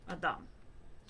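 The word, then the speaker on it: אדם: But we pronounce it a little bit different. Adam.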